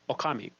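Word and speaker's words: 狼: wolf means Japanese now it's Okami that's how you pronounce wolf there you go okay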